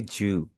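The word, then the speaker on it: 十: टेन को आप बोलेंगे जू।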